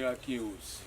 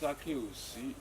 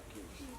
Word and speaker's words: Akinyosi: Many people cannot pronounce the name because they are used to a lot of people call me Akinyosi, but it's Akinyosi. The correct one is Akinyosi.